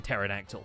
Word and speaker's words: pterodactyl: post office, and terraforming, where the P is silent like in pterodactyl.